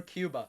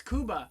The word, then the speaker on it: Cuba: Kuba Hey Stephen yeah is it Kuba or Cuba no it's Kuba the natives call it Kuba it's Kuba yeah it is you're